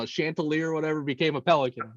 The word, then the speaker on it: Chanticleer: What if I told you that what do you call it, Chanticleer or whatever became a Pelican? Oh. Chanticleer, is that how you say it?